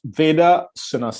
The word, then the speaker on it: Veda: who is a mr vera aveda i hope i'm pronouncing that correctly close enough veda yes yes that's it great just to give a